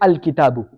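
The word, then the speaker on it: الكتاب: So I'm pronouncing the which letter? The lam. The lam. I'm saying al kitabu.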